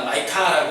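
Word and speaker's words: Micah: 이 미가라는 사람의 이름의 뜻은 원래는 히브리어로 미가야라고 해요. 미가야. 우리는 미가 마이카라고 이제 성경은 이제 영어로는 마이카라고 이제 발음을 하는데 미가야는 누가 여호와와 같은가라는 그런 뜻을 갖고 있어요.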